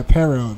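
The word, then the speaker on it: Paro: But the most approach is Pero. Did I pronounce it right? Yeah, Pero.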